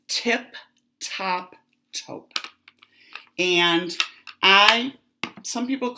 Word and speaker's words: Tip Top Taupe: If I didn't say it right because of my accent, it's Tip Top Taupe.